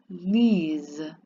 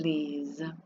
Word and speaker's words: lisent: Elles lisent. Remember, you never pronounce that ENT. So, je lis. I read. Tu lis. You read. Il lit. He reads. Nous lisons. We read. Vous lisez. Y'all read. Elles lisent.